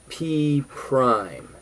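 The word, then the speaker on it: P′: point is called P the new point is called P Prime that's how you say it and it's written a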